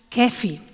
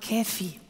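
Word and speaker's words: κέφι: Das heißt Kephi, habe ich mir noch von griechisch Aussprache Kephi.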